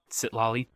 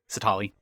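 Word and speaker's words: Citlali: But regardless, let's move on to Sitlali. Whatever. Sitali. Yeah, there's an extra L in there. I kind of was, I was skipping over a little bit, I guess, in my pronunciation.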